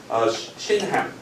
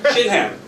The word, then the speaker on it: Shinhan: So Shinhan, like the English pronunciation, right? Shinhan.